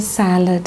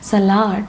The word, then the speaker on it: salad: I forgot to tell you about the salad. Actually, some people are saying it as salad. That's also wrong. It's not salad, it is salad.